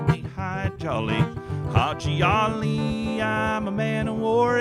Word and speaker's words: Haji Ali: them, his name was Haji Ali, and he was supposed to be like a funny, gregarious guy. But nobody could say his name right. They called him Hi Jolly.